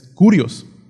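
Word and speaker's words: κύριος: Se escribe, creo que ya lo hemos escuchado los que tienen años en el Evangelio, escribe K-Y-R-I-O-S. Se dice Kyrios, ¿no? Pero pues no sabemos hablar griego, ¿no? Pero la pronunciación es Kurios, ¿sí?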